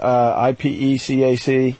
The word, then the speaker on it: ipecac: How do you say that word? I-P-E-C-A-C? I can never say that word. Ipecac. All right, Ipecac.